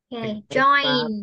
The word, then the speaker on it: join: cái chữ này đọc đúng nhất. À, không phải là đúng nhất nữa mà là nó giống nhất với chữ chờ trong tiếng Việt ha, join.